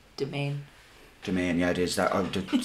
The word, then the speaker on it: Demesne: Domain, yeah, it is. That the spelling of that throws me off so much. Domain.